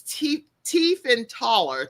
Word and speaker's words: Tiefenthaler: And so Abigail, and you can see how her name is spelled, but it's Tiefenthaler.